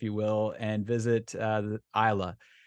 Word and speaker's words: Islay: will, and visit the Isla. On paper, it looks like Islay, and I've heard it pronounced that way, but I assure you that it is Isla.